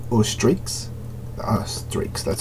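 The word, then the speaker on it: Streex: You have a character from Steelix or Streaks, Streaks, that's how it's pronounced.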